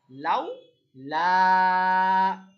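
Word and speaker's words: لَوْلَا: নরম করে তাড়াতাড়ি পড়া লাউ লা লাউ তাড়াতাড়ি কারণ এটা লিন লা লাম আলিফ জবর লা এটা হল মা লাম জবরের পরে খালি আলিফ আলিফ মা এটা বলব তাড়াতাড়ি এটা বলব টেনে লাওলা কি উচ্চারণ লাউলা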